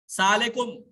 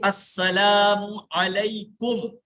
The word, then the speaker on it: السلام علیکم: السلام علیکم، السلام علیکم، سالیکم، سالیکم، سا علیکم تمہارا برا، السلام علیکم تم پر ہلاکت ہو، السلام علیکم معنی صحیح ہے لیکن تلفظ انتہائی برا ہے۔ تلفظ کیا ہونا چاہیے؟ السلام علیکم، یہ 10 نے کیا،